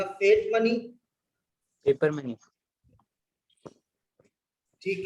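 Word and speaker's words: fiat: दो, फिएट money या फेट money, जो भी प्रोनाउंसिएशन रखो। ऐसे तो फेट इसका सही प्रोनाउंसिएशन है, लिखते हम फिएट है, ठीक है।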